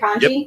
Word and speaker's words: Kanji: does it feel knowing that your performance as Kanji, right? That's how you say it? Kanji?